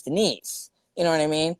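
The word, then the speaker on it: Deniz: be and like and her sister is named um denise but it looks like denis because it's spelled d-e-n-i-z but it's not denis it's denise you know what i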